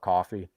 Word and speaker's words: Ko-fi: I pronounce it Ko-Fi. Some people call it coffee.